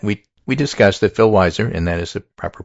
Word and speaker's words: Weiser: Well, it turns out that we we discussed that Phil Weiser, and that is the proper pronunciation of his name, beat Michael Bennett and will be the Democratic candidate for governor and the Democratic governor.